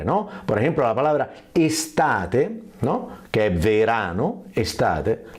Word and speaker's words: estate: entonces ahí quien viene del idioma español puede pronunciar la E como quiere, ¿no? Por ejemplo, la palabra estate, ¿no? Que es verano, estate, la tiene, y entonces estate, ¿no?